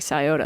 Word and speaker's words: Scioto: the Scioto River, which is spelled like Scioto, but said like Scioto.